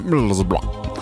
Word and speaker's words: Middlesbrough: Roma Middlesbrough. Che è la pronuncia esatta, eh.